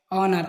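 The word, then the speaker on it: honor: sign sign माने चिन्ह एच एच के बाद ओ ओ आने पर जहां भी एच के बाद में ओ आए वहां एच साइलेंट होता है ऑनर ऑनर का मतलब होता है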